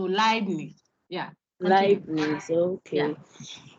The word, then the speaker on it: Leibniz: harmony by Leb, I, EI is I, like Einstein. Okay, I. Pronounce it okay, as if it's LAI. So Leibniz.